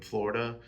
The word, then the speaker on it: Florida: Self-portrait as the I in Florida and then self-portrait as the duh in Florida, which is how you know native Floridaidians pronounce the da part of Florida.